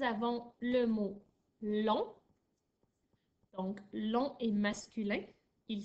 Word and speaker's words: long: le mot l'ont donc long et masculin il s'écrit l eau n g le gie à la fin de l'an il est muet je ne l'entends pas je peux utiliser long